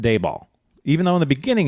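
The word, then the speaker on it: Dabal: He's like, "Oh, um yeah, that's D A B A L." Pronounced Dayball.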